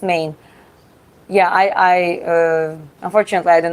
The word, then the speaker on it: Maine: Okay, it's a state and it's pronounced Maine.